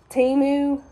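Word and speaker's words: Temu: my big old package from how do you pronounce that timu t-e-m-u I got this big old order they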